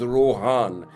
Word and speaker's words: Rohan: The way he pronounces it, it's Rohan. It has a A vowel sound in it.